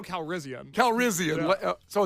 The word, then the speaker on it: Calrissian: No, you've got an extra syllable. It's Lando Calrissian.